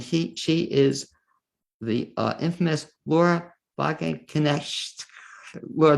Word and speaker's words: Wagenknecht: It's next my pleasure to introduce my second guest in tonight's show, and she is the infamous Laura Wagenknecht. Laura W. Help me with it, Laura. Pronunciation. Wagenknecht.